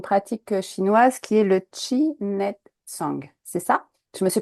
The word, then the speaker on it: Chi Nei Tsang: sont inspirés d'une pratique chinoise qui est le chinet song c'est ça je me suis pas trompée déjà dans la prononciation non c'est tout à fait c'est vrai